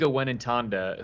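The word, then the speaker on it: Mwenentanda: kill to try to hear you try to pronounce it. It's the first 3 letters are NDJ. It's Jacqueline Wenentanda, who transferred out of the Texas program as well.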